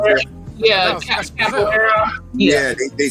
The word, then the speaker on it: capoeira: with the what was that fighting style, that cabaret? How you pronounce that? Yeah, capoeira.